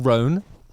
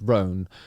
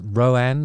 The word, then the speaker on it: Roan: do this week Chapel ran um and it is pronounced ran I've made the mistake of uh saying it as Rowan like a two syllable you know one and a half syllable thing but it's not it's